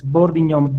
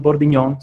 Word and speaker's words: Bordignon: It's Bordignon, B-O-R-D as in Delta, I-G-N-O-N. And you pronounce it just like the filet mignon, Bordignon, same thing.